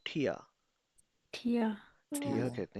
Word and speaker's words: Tier: Pronounce with me ठिया।